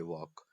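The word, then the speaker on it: walk: व ए एल के वॉक इसको बालकनी पढ़ा जाता है एल इसका हमेशा साइलेंट रहता है इसी तरह से टॉक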